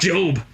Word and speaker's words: Job: Not Job. Okay, His whole family was murdered, I think. But yeah, that's my name. Okay, great. It rhymes with robe. Uh-huh.